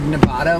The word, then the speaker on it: Nevada: Because in our first video I said Nevada, which I had always said my entire life, and you were like, it's actually Nevada, and that kind of kills me that you don't say it right.